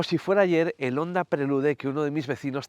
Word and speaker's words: Prelude: Por cierto, antes de que me lo digáis, sí, se pronunciaría prelud, pero en España lo llamábamos prelude y lo seguiremos llamando prelude, igual que llamamos wifi a las redes inalámbricas y no wifi.